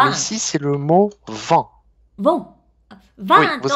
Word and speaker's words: vent: Vin, on va être un peu plus comme ça. Vin, vin. Et vent, on va dire un peu plus comme ça. Vent, vent.